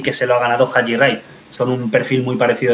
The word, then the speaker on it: Haji Wright: Bueno, y vamos con el último, que este no sé si es Ahi Wright. Haji Wright, sí. Bueno, aquí lo pronunciamos Haji Wright, es como le pronuncian en Estados Unidos.